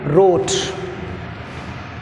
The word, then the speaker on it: wrote: See next one, wrote. Word wrote, right, round. Some more words are there, ఇంకా కొన్ని చాలా పదాలు ఉన్నాయి. In wrote which is silent, w silent.